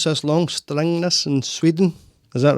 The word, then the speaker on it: Strängnäs: from, I'm probably going to pronounce this long, Strängnäs in Sweden. Is that right, Charlotte? That was nearly right. Oh, right, okay. Close enough. Right, okay. How do you pronounce it? Strängnäs.